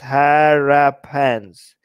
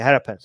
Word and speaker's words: Harappans: The West Asian migrants were the Harappans, pronounced Harappans. Ha! They rap in their pants. Okay, I'm going to remember it like that. Think rapper with the A when saying, okay, Harappans. Okay, Harappans.